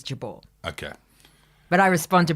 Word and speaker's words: Jabour: of your last name you've said it wrong both ways Jabor it's jaar jaar in Grafton in Grafton but the original pronunciation the Lebanese pronunciation and the one that I use now is jabal okay but I respond